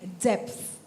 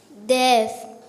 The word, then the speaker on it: depth: Jolly your word is depth depth death d e p t h death it is correct wrong pronunciation but it is correct um rusell Douglas